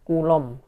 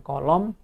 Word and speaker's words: Coulomb: Bacanya benar ya, bacanya adalah Coulomb, bukan kolom, apalagi kolom ya.